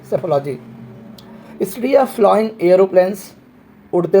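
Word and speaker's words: psephology: उसे सेफोलॉजी बोलते हैं जिसमें पी साइलेंट है सेफोलॉजी स्टडी ऑफ फ्लोइंग एरोप्लेंस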